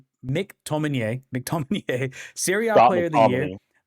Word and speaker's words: McTominay: McTominay, Serie A Scott Player of the Year, McTominay.